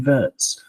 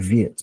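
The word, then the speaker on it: Wirtz: something that I think Florian Vertz or Vietz, it depends which German you ask. Florian Viet pronounces it Viet. So I'm going to go with that. But anyway, um, Florian Vitz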